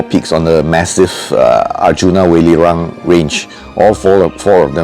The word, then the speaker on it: Arjuna: text now over here may often hear it pronounced as arjuno that's a Japanese pronunciation but the original uh Indian pronunciation is Arjuna now normally at this time of the year